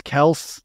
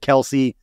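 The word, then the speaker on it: Kelce: gotta ask this first did you know that it's Kel like technically how you pronounce his last name because Andy Reid has said that forever everybody else has said Kelsey Kelsey never corrected anybody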